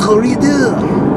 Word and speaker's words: Redux: But the thing is that when I it's redo. You don't know. What the You don't God? pronounce the X.